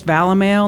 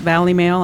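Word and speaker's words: Valimail: sponsors including Vala male that's how you say it's val a mail not Valley mail I got confirmation on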